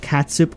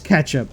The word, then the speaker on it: ketchup: Rapid says like catsup or ketchup. It's ketchup.